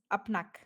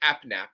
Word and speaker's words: APNAP: How do you say it? It's Apnak, right? Apnak? What? Apnap. Oh, AP and AP, AppNap. Yes, Exactly. That's exactly A- how I said it the first time.